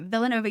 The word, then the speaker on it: Villanova: Is it pronounced like Hispanic or is it Okay, no, Villanova is how it's pronounced like. Yeah. Okay, Villanova University in 1977 and then he got a